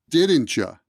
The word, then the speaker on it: didn't you: didn't you go there didn't you sounds like didn't ya didn't you didn't you